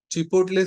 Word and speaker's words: चिपोटले: चिपोटले seasoning, या कुछ चिपोटल, कुछ जन प्रोनाउंस करते हैं उसको चिपोटल, या कुछ जन उसको चिपोटले बोलते हैं।